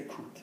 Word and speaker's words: coûte: We say coûte. Combien ça coûte? Yeah? Lovely. You pronounce the T, right? Yes, why? Because what's after it? Vowel.